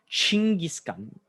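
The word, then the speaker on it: Chinggis Khan: the name of kangaskhan well in mongolian the emperor of mongolia was called shingiskan so c-h-i-n-g-g-i-s gun which just means emperor in the mongolian language so later in life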